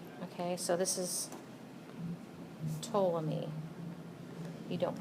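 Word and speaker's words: Ptolemy: me call this to the p is silent okay so this is toam me you don't pronounce the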